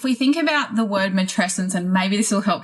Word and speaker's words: matrescence: think about the word mates and maybe this will help people people with remembering how to say it it sounds a little bit like adolescence and that's purposeful because if